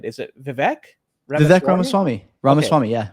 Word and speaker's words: Vivek Ramaswamy: Hopefully I pronounce it right. Is it Vivek? Vivek Ramaswamy. Ramaswamy, okay. Yeah. Vivek Ramaswamy.